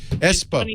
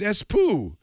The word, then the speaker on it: Espoo: voice app or something yeah go down to espoo and tell uh tell erickson and nokia and all those guys espo it's funny whenever you say that it's pronounced espo oh thank you i've been saying